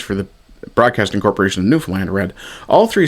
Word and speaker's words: Newfoundland: But if you're born after 1970, chances are you primarily put the stress on the first syllable. Newfoundland. See, the problem is it if you're putting the stress on the first syllable, you're actually separating it into three different words. New found land. And it's not. It's two words. newfound land as in the newfound land which is how it